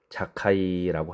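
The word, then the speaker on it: זכאי: 삭개오라는 이름은 히브리어 발음으로 자카이라고 합니다.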